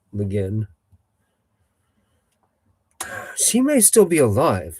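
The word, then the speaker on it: Le Guin: Leguin. Legin.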